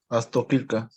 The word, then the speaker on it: Astoquilca: ¿cómo se pronuncia? Astoquilca. Ah, ok, la doble L como L.